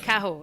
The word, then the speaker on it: Cahors: To an English person, we heavily pronounce the H. That's just the way Cahors. English goes. Yes, Cahors. But of course, you're not supposed to pronounce that H in any way, shape, or form.